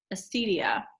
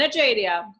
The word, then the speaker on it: acedia: much time to cover Acidia. That is a not new pronunciation, but new for me. As I was pronouncing it like an Italian, Acidia.